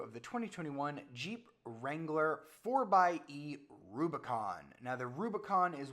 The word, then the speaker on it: 4xe: It's spelled 4xe, but Jeep wants you to say 4xe like 4x4.